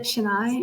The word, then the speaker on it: Chennai: Chennai. Is it Chennai?